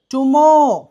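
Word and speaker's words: tomorrow: contaminated right adulterated milk టుమోర్ చూడండి more కాదు ఇక్కడ ఆర్ ఉందండి ఆర్ ముందు ఓ ఉంది అలా కనిపించినప్పుడు ఆర్ కనిపిస్తూ ఆర్ ముందు గనుక వావెలు ఉంటే ఆర్ ని సైలెంట్ చేస్తాం ఎలా బ్రదర్ సిస్టర్ ఆక్టర్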